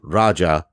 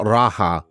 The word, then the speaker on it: Raja: it is pronounced Dragon Raja because it's an Indian word for King Raja not Raha as I've heard a